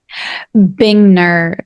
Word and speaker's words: Bingner: how to pronounce it bingner like like Chandler Bing any okay bingner so it's bingner